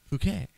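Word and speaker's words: Fookey: like because it's pronounced Fouquet. Fouquet. Fouquet. As it says here, F-O-O-K-E-Y. So Fouquet? Fouquet. Fouquet. Fouquet. Not fuck, Fouquet.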